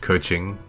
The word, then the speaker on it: Keqing: I'm trying to think if I should move Keeching up. Or I believe it's actually pronounced Keqing.